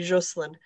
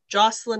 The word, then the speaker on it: Jocelyn: It's French. It should be Jocelyn. Jocelyn in French is male.